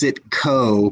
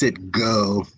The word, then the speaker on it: Citgo: So Citgo, and it's Citgo. Of course it That's and it's mostly pronounced Citco, but it's Citgo, whatever.